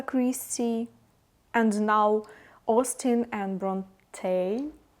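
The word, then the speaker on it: Brontë: And I also just binge read Pride and Prejudice by Jane Austen and Jane Eyre by Charlotte, how I should pronounce it? By Charlotte Bronte? Bronte, okay.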